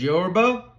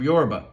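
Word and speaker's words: Yoruba: There's Yorba, Aiken, Congo, Dogen, the Egyptian gods, goddesses, etc.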